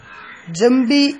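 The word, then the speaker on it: جنبي: വെച്ചിരിക്കുന്നു അല്ലെങ്കിൽ ഞാൻ വെക്കുന്നു, ജംബി എന്റെ പാർശ്വത്തെ, ജ ന ബി എന്നാണ്, ജ ന ബി, അത് മീമായത് ശേഷം സുക്കൂറിലെ നൂനിന് ശേഷം ബാ ആയതുകൊണ്ട് ഉച്ചാരണത്തിൽ മീമിന്റെ സൗണ്ട് വരും. ജംബി എന്ന് എഴുതുമ്പോ ജ ന ബി എന്നാണ് എഴുതുക.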